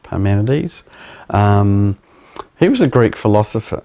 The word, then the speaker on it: Parmenides: But Parmenides, I think that's how it's pronounced, Parmenides.